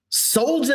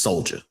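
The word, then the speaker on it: Soljah: Soldier Anderson. S O L J A H. Soldier is this person's name.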